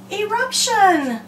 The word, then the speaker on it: eruption: what word is that eruption very good three syllable word e Rob shun your mouth drops three times let's try the next